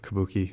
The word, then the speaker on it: Kabuki: is that the Kabuki a little bit of Kabuki yes I didn't know if I was pronouncing yeah correctly that's correct so I call